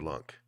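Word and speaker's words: LUNC: dew skull open what lunk rhymes with with trunk um what do you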